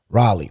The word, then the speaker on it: Raleigh: Raleigh, that's it.